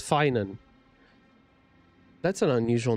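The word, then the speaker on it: Phainon: from ID Alisia finan so that's how you say it's not fan it's finan that's an unusual name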